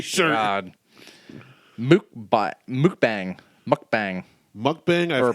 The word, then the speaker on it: mukbang: It's pron it's spelled m u k b a n g which would be mukbang but it's pronounced mukbang. M o k b o n g.